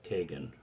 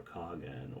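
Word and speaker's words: Khagan: called themselves uh uh Kagan or Kagan or however you want to pronounce it it could be spelled k-h-a-g-a-n or a q u-a-g-a-n depending on where it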